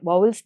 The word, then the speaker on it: Vowels: வாவல்ஸ்.